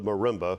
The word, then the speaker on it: marimba: The distinctive tone of the marimba was the sound Samantha's group sought. Marimba. Am I pronouncing it correctly?